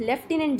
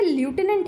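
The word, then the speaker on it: Lieutenant: जो ये ल्यूटेनेंट है या फिर लेफ्टिनेंट जैसा कि हम इंडियंस जिसको प्रोनाउंस करते हैं, ये एक्चुअली एक ब्रिटिश वर्ड है जिसकी स्पेलिंग के कारण काफ़ी इसके प्रोनाउंसिएशन को लेके कन्फ्यूज़न रहता है। आपको इतना कुछ ज़्यादा सोचने की ज़रूरत नहीं है इसके ऊपर। अक्सर लोग इसको लेफ्टिनेंट ही बोलते हैं।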